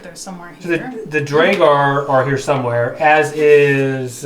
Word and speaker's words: Duergar: Duergar. Dwairgr is the phonetic spelling.